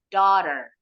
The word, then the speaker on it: daughter: seperti kail gitu ya itu simbol bunyi huruf r di akhir untuk American English kalau British Eng enggak ada nih yang seperti pengait ini karena eh huruf r terakhir enggak pernah bunyi kalau orang Inggris oke all together daughter